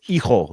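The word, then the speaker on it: Hijo: It's Eho. You don't pronounce the H.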